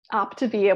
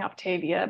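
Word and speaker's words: Optavia: I alluded to that optivia which I was always pronouncing it wrong I was saying Octavia back in the day but I actually had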